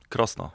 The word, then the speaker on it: Krosno: How do I pronounce that? Yeah. Krosno. It's good. Krosno.